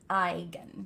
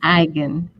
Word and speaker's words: Eigen: Yes, And it's German, and the E is silent. So it's pronounced Eigen. Eigen.